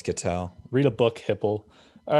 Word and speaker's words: Ketel: It's not Ketel Marte though. It's not Kettle. Eugenio Ketel. Oh, it's Ketel.